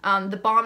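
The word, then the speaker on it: theBalm: have heard of but the balm is spelt like I have hairs on my mouth on my mouth from the powder the bomb is felt like the bomb like lip balm cosmetics but the this is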